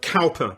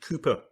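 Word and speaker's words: Cowper: newton and william cooper or to those who don't know how to pronounce the word calper but it's william cooper then in 1854 uh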